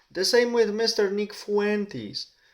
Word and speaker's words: Fuentes: Nick Fuentes. Mr. Nick Fuentes or Fuentes if we pronounce it in Spanish.